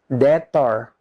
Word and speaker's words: debt: The last number 8, silent B. BT, B dengan T. B is not pronounced. Contohnya, he is a debtor.